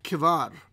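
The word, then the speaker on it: כבר: s-c-h-e-b-a-r so chiba hebar but in hebrew it really should be pronounced if i'm doing it right kevar because there's no dagesh on the beth in other words there's no dot inside the second letter letter ba so it becomes a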